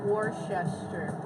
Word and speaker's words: Worcester: How do you pronounce it? Worcester.